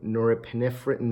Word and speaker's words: norepinephrine: gonna increase your dopamine your serotonin your nor norepinephrine or epinephrine that's how you pronounce it you know it'll do that and